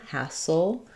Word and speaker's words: hassle: Looking at hassle, we have the a black cat vowel, first syllable stress. And then we move from this right into that dark ul, that syllabic L, soul, hassle. So I would write that like ha, soul, or you can think